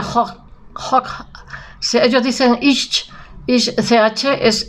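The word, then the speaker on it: Hooch: Se escribe Hoch, pero en la CH en alemán se aspira, será Peter de Hoch.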